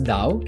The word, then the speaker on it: Tao: Daoism is China's indigenous religion and philosophy Tau pronounced as Dao can be defined as path or Road it